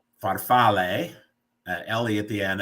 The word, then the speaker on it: farfalle: a is pronounced ah the English e is pronounced a heart a so like farfalle uh Ellie at the end it's butterflies is